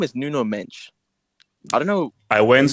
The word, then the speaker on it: Mendes: I don't I don't his His name is from this day forth his name is Nuno Mench.